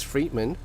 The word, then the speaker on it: Friedman: I used to pronounce it as Friedman. Okay, someone corrected me. So it's Friedman.